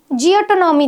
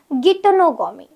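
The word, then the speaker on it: geitonogamy: Pollination के 3 mode हो सकते हैं, ऑटोगैमी, ठीक है, ऑटोगैमी, ये जो है इसका प्रोनाउंसिएशन बहुत जगह पे आपको जियोटोनॉमी दिखेगा, बट इसका सही प्रोनाउंसिएशन होता है गिटोनोगोमी।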